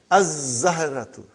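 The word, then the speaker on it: الزهرة: We won't pronounce lam. Why? Because it is a sun letter. Huh? And then, brother, az-zahratu, the flower.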